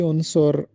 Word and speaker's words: عنصر: کہ ڈرامے کا بنیادی عنصر کہانی ہوتا ہے۔ یہ درست تلفظ عنصر ہے۔ عنصر عین پر پیش اور صاد پر پیش کے ساتھ عنصر اس کو پڑھا جائے گا، عنصر نہیں پڑھا جائے گا۔ عنصر کا مطلب